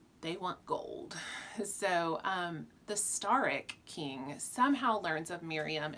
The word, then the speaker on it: Staryk: In my head, I pronounced it Staryk. It's Staryk.